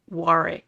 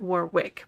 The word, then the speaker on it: Warwick: make mention of something just because there is a w in his name we have been pronouncing his name wrong it's it is he's he pronounces it wari War wari not Warwick but wari Davis well